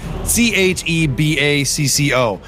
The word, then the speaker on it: Chebacco: Yeah, so for those of you guys outside of Massachusetts, it's spelled Chebacco. Your autocorrect on your phone makes it Chewbacca no matter what you do, so I let it fly.